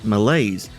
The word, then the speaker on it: Meleys: sounding like Alice, then why is Meleys, which is spelled M-E-L-E-Y-S, pronounced in the same way? That's why I was originally pronouncing it Malaise, like the actual word Malaise spelled M-A-L-A-I-S-E, and is the pronunciation I'm going back to.